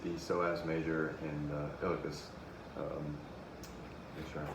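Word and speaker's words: iliacus: is activated with the psoas major and uh ilicus um make sure i pronounce that correctly yes the ilicus uh and most of the time uh when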